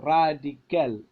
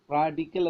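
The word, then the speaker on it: radical: നമ്മൾ അങ്ങനെയാണ് സ്ട്രെസ്സ് കൊടുക്കുന്നത് ഈ ഒരു പദം വരുമ്പോൾ അതിൻറെ നേരെ എ സഫിക്സ് നേരെ മുമ്പുള്ള സിലബിളിൽ നമ്മൾ സ്ട്രെസ്സ് കൊടുക്കുന്നു റാഡിക്കൽ എന്നതിൽ കൽ എന്നതാണ് സഫിക്സ് അപ്പൊ പിന്നെ അതിനു നേരെ മുമ്പുള്ള റാഡിക് റാഡിക്കൽ റാഡിക്കൽ കോമിക് എന്നതിൽ ഐ സി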